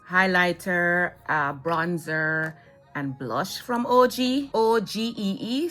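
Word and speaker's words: Ogee: There came out these highlighter, bronzer, and blush from OG, O-G-E-E. So I'm thinking that's how it's pronounced, OG.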